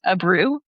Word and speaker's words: Abreu: I'm not I think I'm going to say your name wrong, but I think it's Abru.